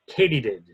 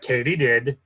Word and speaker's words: katydid: Your word is katydid. Katydid. Are there any alternate pronunciations?